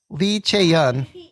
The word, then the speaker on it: Lee Chae-yeon: DAEBAK or not on Lee Chae-yeon?